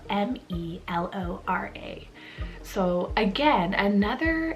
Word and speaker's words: Melora: So it's spelled M-E-L-O-R-A.